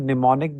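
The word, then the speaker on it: mnemonic: a term for hits It's called pneumonic the m is silent so these are called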